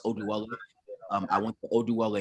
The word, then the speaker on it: Oduwole: know my my last name which it's actually pronounced oh dweller um i want the odual a name okay